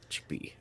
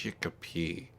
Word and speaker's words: Chicopee: British pronunciation. Yeah. Kind of without the accent. What? Chickpea. Chickpea. Chicopee.